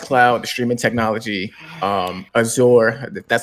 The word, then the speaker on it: Azure: were talking about the X cloud streaming technology Azure that's how you pronounce it and the streaming services and stuff